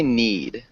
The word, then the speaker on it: knead: okay sounded good uh so instead of saying we'd say need oh need yeah and